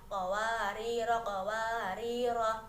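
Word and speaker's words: قواريرا: Yang pertama, bila wasol maka kedua ro-nya dibaca pendek menjadi qawarira qawarira.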